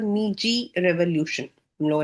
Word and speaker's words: Meiji: Would read about the मीजी revolution. हम लोगों ने उसमें भी पढ़ा था इंट्रोडक्शन में जो मेजी है इसको हम लोग मे एम ए वाई मे J double E ji pronounce करते हैं।